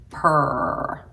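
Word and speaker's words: Prr: shade of per and it's spelled p r r so it's like per and it has like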